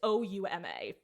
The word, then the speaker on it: Ouma: Like that's not how you spell his name. It has an extra syllable in it. It's supposed to be Oma, not Oma.